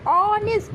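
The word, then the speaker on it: honest: Article लेकिन ऑनेस्ट एंड आवर ऑनेस्ट ऑनेस्ट एंड जैसे ऑनेस्ट लिखा हुआ है तो यहां पे एच हमारा साइलेंट है तो उसे हम क्या बोलेंगे? ऑनेस्ट अ किसकी साउंड आ रही है?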